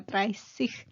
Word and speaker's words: dreißig: S doble, eso es lo que significa, entonces se hace más larga, dreißig, zwanzig.